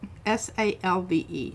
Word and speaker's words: salve: S-A-L-V-E. Salve. Is it salve? It's salve. You don't pronounce the L. It's like salmon.